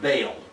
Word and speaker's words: Baal: speakers usually pronounce it Baal but uh in Hebrew the two vowels are pronounced separately but Al so this